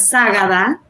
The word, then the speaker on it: Zágada: Sí está bien pronunciado, es Sagada, pero súper bien.